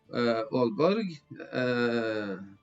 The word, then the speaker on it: Aalborg: Couple of bridges here, but includes Næstved, Copenhagen, Aalborg, 2 A's in Scandinavian is pronounced Å, and Kolding here.